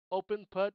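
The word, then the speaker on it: OpenPutt: Open Putt is spelled O P N P U T like putt as in golf.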